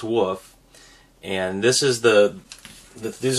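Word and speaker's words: weft: prepare what's called the woof and it's it's spelled w-e-f-t but it's pronounced woof and this is the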